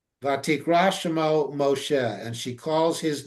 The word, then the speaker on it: Moshe: no, he's Moshe. He's only Moises in either in Yiddish or in a little variant pronunciation of the Egyptian name Mosa. Hmm. And there are pharaohs with the Mosa name as part of their name. So yes, Moshe is the Hebrew pronunciation of a very valid Hebrew name.